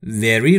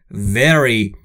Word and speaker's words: very: دوستان تلفظ وی در very رو باید دقت بکنید. وقتی که شما وی رو میخواید تلفظ بکنید، نیش دندون بالا باید لب پایین شما رو بگزه. به این صورت very very.